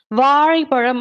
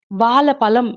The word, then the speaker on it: வாழைப்பழம்: ஆக இப்படியாக உச்சரிப்பது பிழைதான் இன்னும் சில பேர் என்ன சொல்லுவாங்க அப்படின்னா வாழைப்பழம் அப்படிங்கறதுக்கு பதிலா வாழை பழம் என்று சொல்லிவிட்டு செல்வார்கள் சிலர் வாழ என்று கொஞ்சம் முள்ளையை தள்ளி மடக்கி தள்ளிவிட்டு பலம் என்று பலமில்லாமல் பேசிவிட்டு செல்வார்கள் ஆக தமிழை வாழ விடாமல்